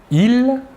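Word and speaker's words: ils: 2 pronom personnel sujet tout d'abord le masculin il l'a s final ne se prononcent pas et le pronom personnel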